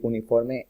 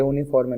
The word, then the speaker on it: uniform: ¿Por qué utilizamos a si uniforme empieza con U? Anteriormente vimos que uniforme no se pronuncia uniform, sino uniform, como una J.